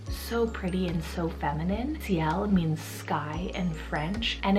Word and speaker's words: Ciel: So spelled C-I-E-L. It is a French name, and the French pronunciation is Ciel.